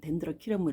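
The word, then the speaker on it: Dendrochilum: 아이 아이는 덴드로 칠러 뭐 혹은 된들 덴드로 킬럼이라고 발음하는데 외국에서는 덴드로 키러이 하는 거 같아요 우리나라에서는 덴드로 칠러 웬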